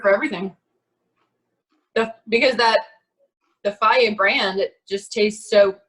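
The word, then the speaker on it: Fage: It's pronounced Faye or Faye.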